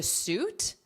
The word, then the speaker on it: suit: It is not pronounced how the spelling looks.